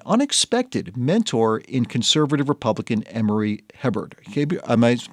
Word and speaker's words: Emory Hebert: an effective and unexpected mentor in conservative Republican Emory Hebert. Am I pronouncing that correctly?